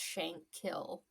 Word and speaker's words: Shankill: It's just shankill. Like K I L L. Shankill. Shank. Yeah. They would never pronounce the H anyway.